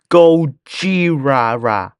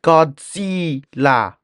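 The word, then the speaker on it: Gojira: her Cal down and it's pronounced go ra not Godzilla Godzilla does it matter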